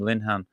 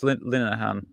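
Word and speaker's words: Linehan: his name before and I was calling him Linhan but it's yeah it's Lahan.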